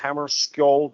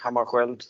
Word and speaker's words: Hammarskjöld: name is Hammarskjöld or Hammarskjöld, depending on how you pronounce it.